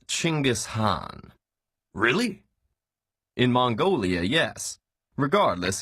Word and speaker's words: Genghis Khan: Khan I see your honor is familiar with Genghis Khan the 13th century warlord whose military campaigns killed millions and left nothing but destruction in their wake objection first of all it's pronounced chingus Han really in Mongolia yes regardless he was one